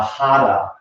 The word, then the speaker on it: hara: In Japanese martial arts, it is referred to as the hara. H-A-R-A, the R is pronounced like a D.